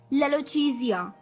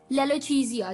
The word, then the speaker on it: lalochezia: ठीक है दोस्तों, तो चलिए द 12th word for the evening is, ये थोड़ा सा अटपटा है वर्ड पर अच्छा है, लेलोचीजिया। लेलोचीजिया, जी हाँ दोस्तों, अटपटा सा कहा मैंने, लेलोचीजिया,